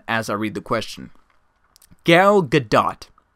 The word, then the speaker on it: Gal Gadot: Gal Gadot, I believe is how you pronounce her name. Gal Gadot is the actress from Wonder Woman.